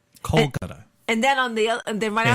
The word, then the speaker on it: Kolkata: Calcutta? Oh, Calcutta. Is that how you say it? A Calcutta prostitute. No, it's Phenomena. Well, shut the fuck up. Because look at it says India, Kolkata. Kolkata.